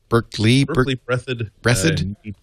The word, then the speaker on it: Berkeley Breathed: Is it Berkey breathed? How do you pronounce it? Berkeley breathed.